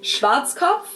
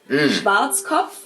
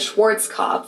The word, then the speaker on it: Schwarzkopf: In German we pronounce it Schwarzkopf, which literally means black head. Schwarzkopf. English native speakers usually pronounce it Schwarzkopf or Schwarzkopf or something along those lines.